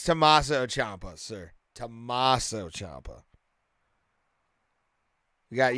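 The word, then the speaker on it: Tommaso Ciampa: say his first name but yeah yeah it's tommaso Champa sir tommaso Champa we got yeah Rodriguez don't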